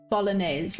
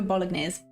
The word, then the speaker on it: bolognese: How do you say you go bolognese, right? That's how you say it. I go bolognese. I pronounce the G.